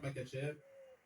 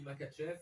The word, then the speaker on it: Makhachev: On va poser la question à la française, on dit Makhachev, ça peut aussi se prononcer Makhachev, c'est selon. Les deux sont bons.